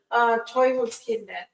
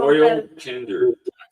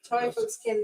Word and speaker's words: Teufelskinder: How do you say it in German? Teufelskinder. So. Teufelkinder. I can't. Teufelskinder. Yeah, that's good.